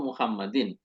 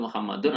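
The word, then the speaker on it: مُحَمَّدٍ: Kemudian kitabu Muhammadin, kitab milik Muhammad. Ya. Kitab idhofah kepada kata Muhammadin. Jadi teman-teman membacanya Muhammadin. Gak boleh Muhammadun atau Muhammadan.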